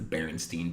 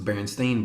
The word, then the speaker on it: Berenstain: well growing up it's to me it's the Berenstein bears it's actually pronounced the berenstain bears what the hell is a Berenstain Bear